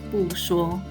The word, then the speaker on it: 不说: When followed by a character with the first tone, 说, it remains its original fourth tone. Thus, we pronounce this phrase as 不说.